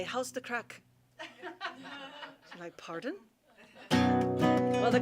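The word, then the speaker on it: craic: we're having some good crack okay crack is different in ireland than it is in the united states it's spelled c-r-a-i-c and it means good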